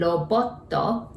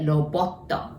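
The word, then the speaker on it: ロボット: and robotto, and that's robot. But we say robotto in Japanese too.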